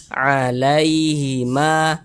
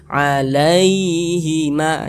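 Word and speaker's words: عليهما: Maka cara membacanya itu dia mudah, tidak memberatkan lisan, dilunakkan saja. Begitu kita baca alaihima, lunak. Jadi karena dia lunak, jangan ditekan-tekan, jangan dibaca alaihima, jangan, dilunakkan saja. Alaihima, begitu.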